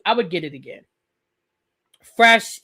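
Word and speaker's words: crème fraîche: Fresh is how it's pronounced.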